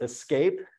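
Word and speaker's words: CESC: and Computing which is pronounced Escape because it's ESC it's the Escape key and they do an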